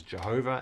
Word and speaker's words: Yahweh: have this name so the best guess by people day is Yahweh all right it has been done as Jehovah and in other times people probably say no Yahweh is probably think so